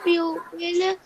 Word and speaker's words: people: They were loved dearly by the people. The People नहीं है बेटा, ये ओ साइलेंट है.